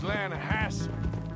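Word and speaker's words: Lannahechee: Yeah, but it's pronounced Lanahatchee.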